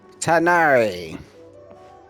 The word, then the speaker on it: Tainari: Tanari!